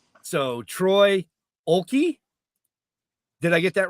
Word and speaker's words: Oelke: I guess You don't pronounce the first letter. in Germany, it's pronounced Oelke. Oelke.